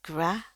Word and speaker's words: gra: nih kepisah ya, gra sebelah depannya ya, gra. Ingat, A ini nggak ada di bahasa Indonesia. Jadi ini pengucapannya dia lidah sebelah belakang naik, lidah sebelah depan turun. Bayangkan itu perosotan, terus mulutnya atau rahangnya harus kebuka lebar, dan mulutnya harus senyum, senyum lebar.